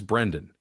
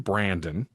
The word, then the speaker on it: Brendan: His name is Brendan. She calls him Brandon right out the gate, and